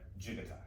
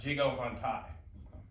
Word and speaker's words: jigo hontai: Spelled hontai, H-O-N-T-A-I, but that's J-I-G-O, and everybody, it's pronounced like jigatai, okay? It's spelled like jigo hontai, but jigatai, okay?